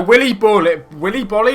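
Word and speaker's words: Willy Boly: So Willy Bolly is how you pronounce it.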